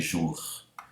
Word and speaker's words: jours: Veja, jour, eu pronuncio bem o R, não terminaria com les jours, não, les jours.